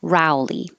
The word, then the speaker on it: Rowley: a person's name rowley but the row could also sound like row like row in a boat a row in a spreadsheet a row of pews in church and the same row can be pronounced as rao which means an argument but in this case in a person's name you should guess that it's an ow rowley which we uh